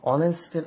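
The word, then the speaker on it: honest: কারণ প্রত্যেকটা শব্দ এইচ দিয়ে শুরু, কিন্তু এই এইচটা উচ্চারণ ভাওয়ালের মতো, অর্থাৎ এইচের উচ্চারণটা সাইলেন্ট।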